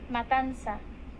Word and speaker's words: Matanza: So in order to fucking say this right, I basically go and do pronunciations, and this is how it is. Matanza.